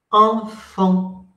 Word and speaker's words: enfant: Si escucharon bien o si pudieron escucharlo, porque no es fácil, esta sílaba y esta sílaba, por lo menos sin la F, si tomamos solo la N y la AN, se pronuncian igual.